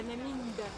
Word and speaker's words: Peenemünde: Jedziemy dalej do Penemunde. Jak to się panie Olu wymawia? Peneminde. Peneminde.